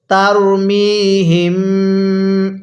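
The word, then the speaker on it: ترميهم: মুখে মুখে পড়বেন পড়ুন তারমিহিম হ্যাঁ আমার সাথে বলুন তারমিহিম আরেকবার তারমিহিম নাকের বাঁশি দ্বারা গুনাহ করবেন এরপরে বিহিারাম তাকে মিমের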